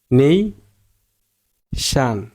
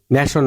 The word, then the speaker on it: nation: উচ্চারণ করছেন কি ন্যাশন, এটার উচ্চারণ ন্যাশন হবে না, উচ্চারণ হবে নেই শান, নেই শান, আগেরটা জোর হবো, যেহেতু এই জায়গায় শান আছে তার আগেরটা জোর দিয়ে বলতে হবো নেই শান, নেই শান, নেই শান, নেই শান, নেই শান।